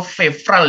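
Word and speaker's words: февраль: Tadi soalnya banyak dari kita nyebutnya febral pakai B gitu. Febral. Iya, febral. Oh. Tapi benar, benar. Walaupun itu dia kayak V di sini. Febral. Ini enggak bisa dipronounce. V dan R itu enggak bisa dipronounce bareng. Oh. Febral jadinya. Jadi B. Kedengarannya seperti B. Febral. Sebenarnya kayak gini, febral. Tahu orang Sunda ya? Orang Sunda bilang V, F enggak bisa. Jadi pakai P, febral.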